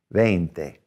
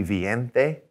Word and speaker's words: veinte: veinte all right um and a lot of times i'll have students when they're learning spell that v-i-e and i'll say wait a minute wouldn't that be viente and they go oh yeah that's right so remember to spell it e-i to get the a sound then thick all right